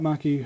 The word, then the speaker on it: Maki: We've got Maki Herbert on the line here, like Marky Mark and the Funky Bunch.